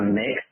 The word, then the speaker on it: Mx: be the new um instead of Mr and Mrs is going to be MX and then that we pronounced a mix so the mixed record